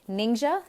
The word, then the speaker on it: Ningxia: is ningxia red and how do you say it ninja is actually a former